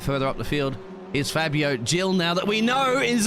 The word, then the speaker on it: Fabio Gil: And it was Fabio Gil, pronounced that correctly this time round, who qualified in 8th but has dropped down 3 positions from his starting position.